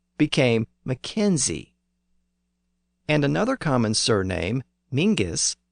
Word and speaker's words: Mackenzie: And over time, people in the south of Scotland thought the Highland clan name was pronounced with a Z sound at the end. So Mackenzie became Mackenzie.